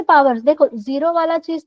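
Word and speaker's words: XOR: वन जर one zero जर zero इसको जर ऐसे प्रोनाउंस करते हैं जर ऑपरेटर तो अगर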